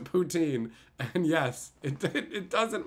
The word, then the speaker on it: poutine: a French lady and she called it ptin which is I mean probably how you're supposed to pronounce it but whatever everyone calls it poutin and yes it it